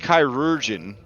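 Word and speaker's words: chirurgeon: be more fun yeah it's pronounced chiruran if you wanted to be fullon like ultimate healer you could do kyurin um dedication with medic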